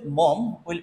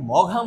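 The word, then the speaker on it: Maugham: আচ্ছা, এখন William Somerset মম, এটা কিন্তু মঘাম উচ্চারণ হবে না, কিন্তু মম উচ্চারণ হবে, মম।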